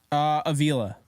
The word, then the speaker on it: Avila: Avila.